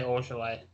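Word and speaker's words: Ojeleye: I say Ojale. That's how I pronounce that.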